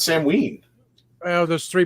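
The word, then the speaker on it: Samhain: do you know it don't say sam hay it's not I know it's not Sam ha it's Sam ween well there's three pronunciations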